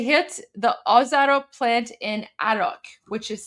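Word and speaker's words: Arak: They hit the Oaro plant in Arach, which is spelled A R A K.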